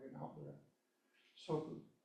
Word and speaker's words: soku: Soku, S-O-K-U, the U is like an out breath.